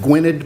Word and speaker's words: Gwynedd: So without any further ado, I'd like to introduce Carol Breslin, and forgive me if I mispronounced the is it Gwynedd Mercy? Yes, it is. Gwynedd Mercy University and the Pearl S.